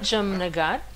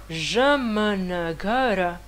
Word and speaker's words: Jamnagar: Par exemple, Matthäus, il habite à Jamnagar, qu'en réalité, on écrit Jamnagara. Jamnagara. Mais personne dit ça, parce que le A, il est faible.